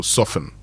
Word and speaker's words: soften: Then there's N, so soften.